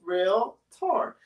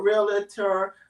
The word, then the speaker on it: realtor: it's actually laughable because the word realtor only has two syllables real tour not realtor realtor i mean it's pretty